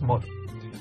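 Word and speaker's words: một: Ceci est le chiffre 1 écrit en homme, ça se prononce moi.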